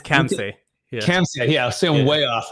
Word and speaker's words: Khamseh: He can pronounce that for here in a minute. It's Khamseh.